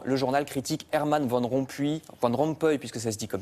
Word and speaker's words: Rompuy: Vous avez bien fait de souligner que ça s'écrit puis, mais ça se prononce Rompuy. Rompuy.